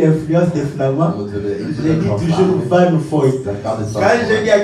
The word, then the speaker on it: Vanfoy: je le prononce en flamand, Van Foy, c'est Van Foy, hein?